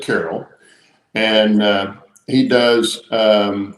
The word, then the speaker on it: Carrell: anyway this is uh dennis carroll he pronounces it carol and uh he does